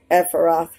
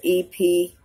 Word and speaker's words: Ephrathah: But you, Bethlehem, Ephrath, if I pronounce that right, it is Ephrathah.